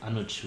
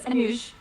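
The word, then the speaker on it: Anuj: Sure, but my name is Anoj which is spelled as a n u j. Thanks Anoush.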